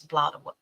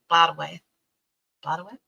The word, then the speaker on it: Blodeuwedd: It's Blodeuwedd, and I looked up the pronunciation, and it's Blodaweth. Blodaweth.